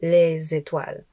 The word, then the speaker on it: les étoiles: À cause du E accent aigu, à cause de la voyelle, on doit prononcer le S et faire une liaison avec le son Z. Donc les étoiles.